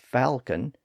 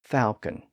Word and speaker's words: falcon: the l sound as Falcon and some people pronounce it without the l sound as Falon the same thing happened